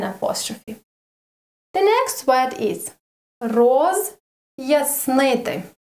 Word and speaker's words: роз'яснити: The next word is роз'яснити. Роз, and then a short, very, very tiny short pause. Роз'яснити.